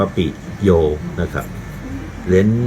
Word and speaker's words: ปิโย: จะ มี จุด เป็น บล็อก ปิโย อ่าน ว่า ปิด โยม นะ ครับ เหรียญ นี้